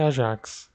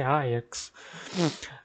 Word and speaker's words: Ajax: É importante deixar isso claro, que a pronúncia correta é Ajax. Ajax Amsterdam. Né? Porque em holandês o J não tem som do J como no português, ele tem esse som de I.